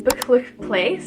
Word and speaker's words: Buccleuch Place: Okay, the next accommodation is Buccleuch Place. Some students struggle to pronounce this name.